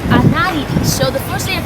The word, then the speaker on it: Anaridis: My name in English is pronounced Anaridis, but in Spanish it's Anaridis.